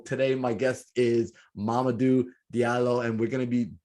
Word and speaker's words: Diallo: His name is spelled Mamadou, like M-A-M-A, like mama, do, D-O-U, and his last name is D-I-A-L-L-O. How do I pronounce your last name? This Diallo, right? Diallo, yeah.